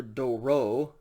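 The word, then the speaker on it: δώρῳ: doru day of singular doro again there's that yoda subscript and you don't pronounce it it's just do rub accusative singular doran moving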